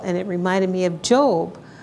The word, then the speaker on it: Job: And it reminded me of Job, how Job was, well, let's get it. Let's just read a little bit of Job. First of all, Job, and it's spelled Job, J-O-B, instead of Job, he was persecuted terribly